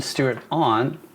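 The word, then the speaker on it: Stewart-Ahn: According to co-writer Aaron Stewart-On, I think that's how you say it, AHN, Stewart-on.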